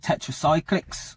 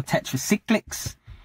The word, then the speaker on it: Tetracyclics: The name of my album is called Tetracyclics, or Tetracyclics. It can be pronounced both ways, so possibly similar to the argument between Shrewsbury and Shrewsbury.